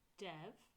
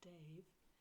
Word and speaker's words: Dev: I spell it Namore as O-M-O-R-E, because I say it how I spell it. And then Guru, and we are our own gurus. Guru, Dev, D-E-V, not Dave, and then Namore, N-A-M-O.